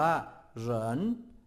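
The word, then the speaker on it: 人: ดี อักษร จีน ตัว ที่ 2 อ่าน ว่า เหน เหน แปล ว่า คน ถ้า แปล ตรง ตัว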